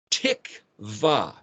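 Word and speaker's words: תקוה: Tikva, tav, kuf, tik, and then the vav letter, wa, pronounced as a V in that case, and then hey is the expression.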